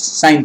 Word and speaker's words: sine: It's not sin theta. It is sine theta.